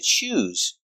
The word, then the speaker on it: choose: Example, he needs to choose. Pronunciation, use the zebra z sound with vibration. Z, choose.